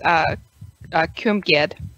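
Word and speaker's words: Cwmgiedd: I'm going to call it Chamagin. Welshland. I looked it up and I heard somebody pronounce it. It's Cumgid. Cumgid? Mm-hmm. Cumgid. That makes sense. So W similar W's to a U.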